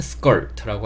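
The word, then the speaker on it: skirt: 근데 영어로 발음하실 때는 r이 있기 때문에 스컬트라고 발음해 주시는게 좋고 컬 보다는 걸 이렇게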